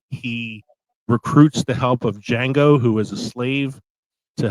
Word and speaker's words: Django: I'm going to Tarantino route with Django Unchained. The D is silent. Tarantino loves to pay homage to his favorite films of the past, and there's a 60s Western film called Django.